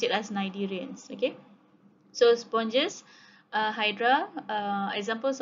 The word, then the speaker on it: cnidarians: Okay, cnidarian, you don't pronounce it as cnidarians, okay, or cnidarians, you pronounce it as cnidarians.